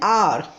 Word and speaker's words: hour: Look at another example, an hour. We are using an with H, but H is not the sound of ha. So that's why H is silent here, and we can listen the sound of O, an R, a sound.